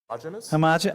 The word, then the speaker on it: homogeneous: How do you say that word? Homogeneous? Homogenous. Oh, homogenous. Thanks.